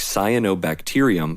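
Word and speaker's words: cyanobacterium: The experienced reader will even automatically pronounce “t-e-r” as “tier” by making the automatic and subconscious connection to the base word bacteria.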